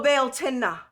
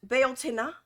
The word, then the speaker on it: Bealtaine: Oh, Bealtaine. Did I do it? Bealtaine. Did I do it? Bealtaine. Hopefully I did. That sounds good. It's not teen, it's tin.